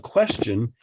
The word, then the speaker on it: question: don't we spell it question and actually i think most people not necessarily would ques pronounce that word with a ch question question question and